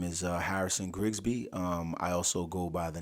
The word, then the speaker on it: Grigsby: Grigsby.